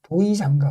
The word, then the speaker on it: 도이장가: Doyi Jang-ga 는 보통 두 음절씩 묶어 Doyi-Jangga 라고 읽습니다 .